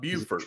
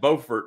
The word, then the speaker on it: Beaufort: It's not Beaufort, although it's spelled the same. It is Beaufort, North Carolina.